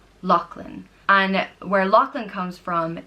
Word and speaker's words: Lachlan: it means land of the LOX and is pronounced Loch Lynn Locklin and where Lachlan comes from is so the